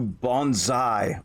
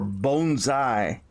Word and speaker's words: bonsai: There's two schools of thought on how you pronounce it. Bonsai, bonsai, whatever the case may be.